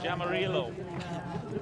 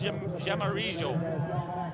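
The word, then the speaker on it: Jaramillo: Juan Jamijo, or English-speaking countries will call him Jamarillo, but it's pronounced Jamarijo.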